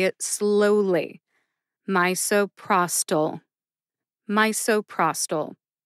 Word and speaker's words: misoprostol: drug name as well my and Pros get the emphasis Pros gets the most emphasis see if you can hear it when I say it slowly my so prostol mysoprostol how did I